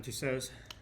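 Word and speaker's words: Tussauds: Madame uh two Madame tussaudos two so is that how you say it yeah but like spelled with a d but it's like French and Silent there's just like in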